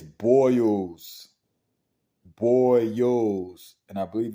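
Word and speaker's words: Boyles: of the L but it's pronounced as boils boils say it with me boils dogs not Bulls dogs but um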